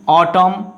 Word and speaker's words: autumn: Now see, autumn. So here is N is understood.